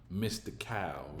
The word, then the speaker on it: Mystikal: Everybody know who Mystical is. Mystikal. That's how you really pronounce his name.